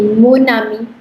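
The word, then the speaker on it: mon ami: singular, which makes it, please repeat with me, monami. Monani. Yes. Monami. Then next is Tonami. Toani. tonami. Tonami. No ka sound dij please. Tonami, please repeat. Tonami. Yes. And what is this one? Tonami. Sonami. So monami, tonami, sonami.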